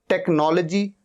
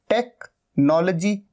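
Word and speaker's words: technology: टेक्नोलॉजी, टेक्नोलॉजी, एच यहां पर silent है।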